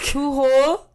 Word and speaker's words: Pujol: Okay, so It's Pujol, Pujol, and it's in Mexico.